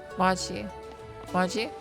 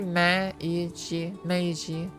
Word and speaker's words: Meiji: Maji? Maji? Usually there aren't often that syllables go unpronounced. No, it'd be Meiji. So Meiji.